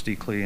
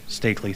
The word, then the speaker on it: Stakley: with uh you miss steley and did I say I'm sorry I mispronounced your name stakley thank you um most